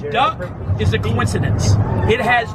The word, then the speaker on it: DUKW: can say it faster if you read the word and it was spelled d-u-k-w how would you pronounce that word this truck goes in the water the name duck is a coincidence it